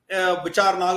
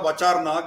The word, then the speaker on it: Vichar Nag: Vichar Nag or Vachar Nag, it's a pronunciation they do differently, but Vichar Nag means this is a place where a lot of vichar used to happen.